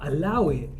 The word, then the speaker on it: allow it: Now, allow it, you actually pronounce it without the A, so you just say allow it.